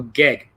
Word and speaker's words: GEG: of global GG or global gig rhymes with egg yeah okay so um